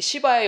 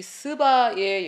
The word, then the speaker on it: 스바: 말씀드릴 수 있습니다 자이 시바의 여왕의 아 제가 스바라 발음해야 되는데 영어로 라 속 시바라고 했는데요 죄송합니다이 스바의 여왕에게 결국 어떤 일이